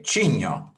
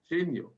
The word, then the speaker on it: Cigno: I said, can you say Cinzano? Cinzano. Can you say cognac? Cognac. Then you can say Cigno. Cigno.